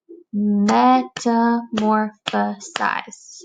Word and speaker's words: metamorphosize: is a huge word metamorphosize see if you can say that word would be meant more the size that word has five syllables I'm sure your mom